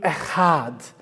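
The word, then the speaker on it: אחד: We say this in Hebrew, ehad. Ehad. That's how That's how you say it.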